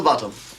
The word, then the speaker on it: Botham: don't want a description just the name little bottom sir but it's spelled both them and it's pronounced bottom I've just told him that I know thank